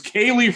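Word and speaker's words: Kalif: It's Khalif Raymond.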